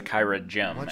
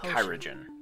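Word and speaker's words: Kyragem: Pronounces it like it's a Kyra gem. Everybody else pronounces it like Kyrogen.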